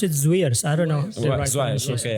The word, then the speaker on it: Zwiers: I pronounce it Zwiers.